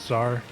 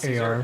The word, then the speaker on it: Caesar: Of course, some people pronounce it Czar. Okay, like CZ. Yes, it's Caesar. Gotcha. Okay. So that's my B. Okay, so yeah. It's like Caesar salad.